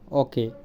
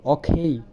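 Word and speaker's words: okay: প্রথমে আমরা বলি ওকে, এটা হবে অখেই।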